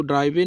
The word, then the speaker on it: drive: इसी तरह ड्राइव, DRIVE ड्राइव, इसमें भी ई साइलेंट है, इसको ड्राइवे नहीं पढ़ना, ड्राइव बोलना होता है।